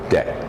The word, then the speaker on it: debt: no big taking on debt debt as if there's no B it's not you don't want to say depth the depth he's taking on a dead - no no no dead in in the sound there's no B in the spelling there is a B but in the sound there is no B okay HP which by